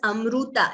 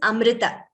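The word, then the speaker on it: अमृत: so it should not be heard as amruta it is not o there is no ukara there it is amrita okay that is one word where we all need to be careful with our pronunciation yes it is amrita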